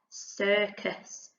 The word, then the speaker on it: circus: little bit tricky because the first letter tricks us what does this say well done if you have said circus we've got the k sound at the beginning but it makes a s sound so we've got s